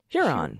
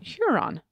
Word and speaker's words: Huron: is the new correction it's Huron Huron more of a long u sound as in bulge